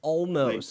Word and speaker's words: Olmos: us as well how do you say your last name almost almost there we go all